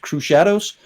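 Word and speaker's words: Crüxshadows: plays at Dragon Con, I call them the Crew Shadows. The lead singers pronounced it Crew Shadows. C-R-U umlaut, like my last name, but that's a heavy metal umlaut, so it doesn't actually change the sound of the U, but C-R-U-X Shadows.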